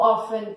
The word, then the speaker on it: often: Então, a pronúncia dessas palavras, como eu já disse para vocês, often, não é often, often, e rarely, rarely, alright?